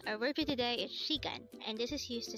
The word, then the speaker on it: 시간: For the first syllable, shi, we need to draw first a siyot character followed by an e character.